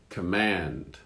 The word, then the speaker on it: command: So in the first one, the accent is at the beginning. On the second word, it's at the end. Comment. Command.